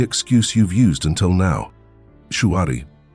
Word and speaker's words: Shuhari: Shuari. Three syllables that hold the key to every mastery path the modern world has forgotten. Shu, obey, huh, break, re, transcend. At first glance, it sounds simple.